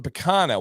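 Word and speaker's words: picanha: thing and it's the am I saying it right the um um P or go ahead and say p picana okay yeah so it's the picana which is has that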